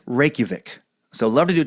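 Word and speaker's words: Reykjavík: But now it's a running theme, so I have to tell you the capital of Iceland is pronounced Reykjavik. So Reykjavik.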